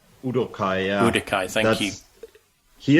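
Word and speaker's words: Uduokhai: which I think is udai is that right udai yeah udai thank you he is a German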